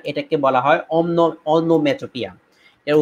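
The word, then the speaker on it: onomatopoeia: আমরা উচ্চারণ না করে শুধুমাত্র লাস্ট যে ভাওয়েল সাউন্ডটা রয়েছে সেই ভাওয়েল সাউন্ডটা আমরা এখানে উচ্চারণ করেছি। তো ইয়া একটা সাউন্ড আর কি। হ্যাঁ, তো সেই জন্য আমাদের অনোম্যাটো পিয়া, এটা পো ইয়া না, ও ইয়া না, অনোম্যাটোপিয়া।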